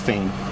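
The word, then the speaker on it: Phayne: P H A Y M E, pronounced Fain.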